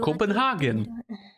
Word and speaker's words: Copenhagen: Copenhagen. Oh, hey, look. It's the Copenhagen interpretation again. No, no, no. Copenhagen. That would be the correct way of pronouncing it.